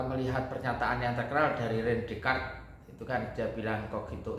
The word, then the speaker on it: René Descartes: René Descartes ya, tulisannya bacanya René Descartes.